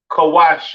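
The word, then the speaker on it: כוש: Kush pronounced kawash in Hebrew.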